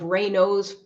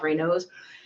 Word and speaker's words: Raynaud's: Raynaud, Raynaud's phenomenon, or Raynaud's syndrome, or Raynaud's, I think it's pronounced Raynaud's.